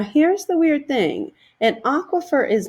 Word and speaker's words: aquifer: this next term now this is a term that sometimes students struggle to pronounce right the way that you say it is aquifer an aquifer is not